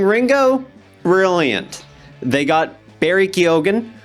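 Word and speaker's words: Keoghan: They got Barry Kyogan, whose name I know for a goddamn fact I'm pronouncing right. So, you better watch yourself, commenters. It's not Kioen.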